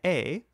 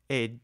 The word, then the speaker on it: est: La femme est, spelled E-S-T, but don't pronounce the S or the T, dans la cuisine.